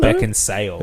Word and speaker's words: Beckinsale: You think Beckensale, but it's just Beck and Sale. Disappointment. I have to say I always knew it was Kate Beck and Sale.